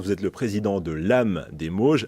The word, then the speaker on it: LAMHE: êtes le président de l'amm des mauges l'âme on peut l'entendre comme une lame justement vous allez voir c'est affreux assez intéressant par la suite mais l'âme s'écrit avec un h votre lame des mauges